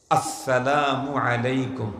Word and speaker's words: আসসালামু আলাইকুম: সব ক্লিয়ার হয়ে যাবে সালামের সময় শুরুর হামজাকে স্পষ্ট উচ্চারণ করেই সালাম দিতে হবে আসসালামু আলাইকুম বলেন আসসালামু আলাইকুম এই আওয়াজটাকে